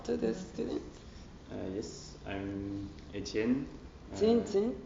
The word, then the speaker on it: Etienne: Yes, I'm Etienne.